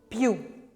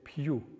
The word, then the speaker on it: più: più, Più. Fiero. Anything that is the I in position of a weak position is going to be pre-palatal, y, y, y, più, y.